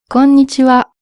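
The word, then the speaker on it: こんにちは: Alors fais attention de ne pas dire conitiwa mais conitiwa. Conitiwa.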